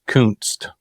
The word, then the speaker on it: Kunst: In 1870, in the 1870s, 1880s, my great grandfather immigrated from Germany, which is Kunst, is how you say it.